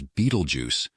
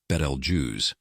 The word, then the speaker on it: Betelgeuse: star has been captivating stargazers for centuries commonly mispronounced as beetle juu beetle juu correctly pronounced balj is an extraordinary Celestial body nearing the dramatic